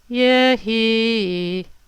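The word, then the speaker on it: יְהִי: So we need to make the accent on the he. And it's Yehi.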